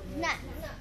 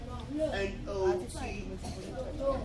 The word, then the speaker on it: not: Nat. 8A? Nat. Not Nat. N-O-T. Not. Not.